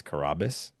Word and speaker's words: Carrabis: But well, Dave, my former boss, he put it in everyone's minds the wrong way. But the right way is Carrabis.